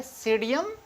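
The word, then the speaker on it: Psidium: और जो इसका साइंटिफिक नेम क्या है, ये है सीडियम गुजावा। सीडियम गुजावा, क्योंकि यहाँ पी जो है वो साइलेंट है, इसलिए वो पी नहीं पढ़ा जाएगा, और इसका सीडियम क्या हो गया, गुजावा हो जाएगा।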